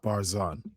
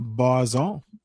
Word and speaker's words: Barzun: So ending this show and watching me some Jacques Barzun is Barzun. Barzun is how I pronounce it.